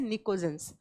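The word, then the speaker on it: pnictogens: ये बात आप नोट कर लीजिएगा, लिखा जाएगा पी से, प्रोनाउंस किया जाएगा एन से, निकोजेंस।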